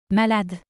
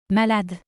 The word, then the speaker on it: malade: Malade. Malade. In French, the letter E at the end is always not pronounced. Malade.